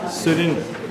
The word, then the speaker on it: Sudhirendar: Sudhirendar.